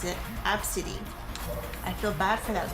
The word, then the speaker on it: ABCDE: Obviously, it's a bad thing for that man to do that, but the mom named her ABCDE, and she apparently pronounces it Absidy.